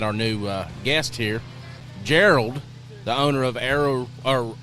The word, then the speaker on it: Gerald: new uh guest here Gerald the owner of Arrow or uh Warhead Arrow Company I probably said your name wrong I always do that you did Geral Geral yeah like Harold like Harold yeah so Geral from uh